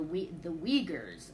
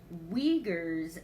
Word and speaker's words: Uyghurs: First, I've been following issues about the Uyghurs.